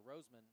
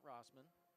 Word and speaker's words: Roseman: got a correction here it's Zach Roseman like the flower Roseman not Rosman so thank you for